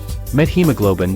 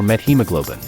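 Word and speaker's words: methemoglobin: than K plus hodos the OED records both pronunciations with/ t.h and pronunciations with/ Theta for met hemoglobin while analogy with hemoglobin and awareness of the presence of the met a prefix probably will cause most English speakers to naturally pronounce SL t.h in this word it shouldn't be seen as an error to use SL Theta slash es shock is an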